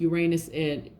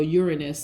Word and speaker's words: Uranus: Aquarius, and something is happening with Uranus or Uranus, so some people could pronounce it either way, and Taurus right now anyway.